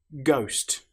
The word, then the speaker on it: ghost: Ghost. The letter H, as you'll notice, doesn't sound at all.